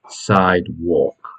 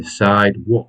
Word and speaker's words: sidewalk: pavement and Americans use sidewalk okay sidewalk remember you don't pronounce the L and the a becomes an O and the pronunciation is